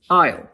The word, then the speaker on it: isle: But during the middle English period, English borrowed another word meaning the same thing from French il, which English now pronounces isle.